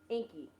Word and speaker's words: Enki: No, Inky, it's spelled Enki. Inky.